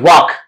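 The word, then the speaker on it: walk: कि balm palm half और another example भी है वाक तो ए एल और एल के बाद हमारे साथ के आया हुआ है वहां पर भी एल साइलेंट है और ये जो मॉडल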